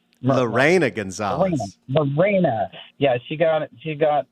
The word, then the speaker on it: Lena: do you say her first name Lena Gonzalez Lena yeah she got she got in trouble for